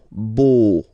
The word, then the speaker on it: beau: So remember this E, A, U combination of vowels only give you the sound O, beau.